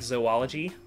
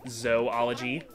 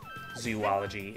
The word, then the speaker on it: zoology: this has been another episode of uh comic zoology um there's another lesson for you it's pronounced zoology there are not whoops well now is not